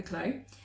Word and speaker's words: Clow: It's the Toaster by Rebecca Clow, because I say it wrong apparently every time, but it's Rebecca Clow, and then also the Lento by Jonna Helen.